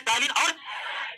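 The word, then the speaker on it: ptyalin: टाइलिन का P silent रहता है दोस्तों, इससे टाइलिन नहीं पढ़ते।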